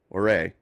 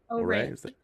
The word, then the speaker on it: Ouray: Ouray. Ouray.